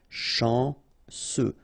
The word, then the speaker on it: chanceux: Final X not pronounced remember C E U will give you this sound chanceux fou combination of o